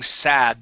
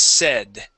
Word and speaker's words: said: with this word your it sounds sort of like you're saying sad though it's been it is sad it the we want to use a short e sound it is said try that it is